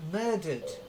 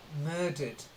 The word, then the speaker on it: murdered: that's better good then murdered it's not a tough sounding at the end it's a dirt and it's still a silent E murdered try it murdered and then